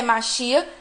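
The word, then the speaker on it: Mashiach: certeza que Moisés, né, que no hebraico é Moshe, seria o Messias, que é Machia. A pronúncia, inclusive, dos dois nomes é parecido.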